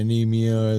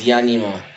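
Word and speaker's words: Ænima: The Ae is pronounced Yah. So it's Yanima.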